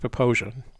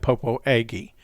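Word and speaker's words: Popo Agie: sink's canyon uh poposia it's pronounced proposia the reason when we got there we said popo aggie and people corrected us right away toby this refers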